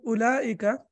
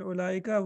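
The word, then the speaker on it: أولئك: Like in ulaika, waw is za'idah. In ulaika, waw is not pronounced.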